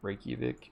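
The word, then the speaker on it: Reykjavík: in your right cubic daddy say it right Reykjavik I don't know basically it's like 60 degrees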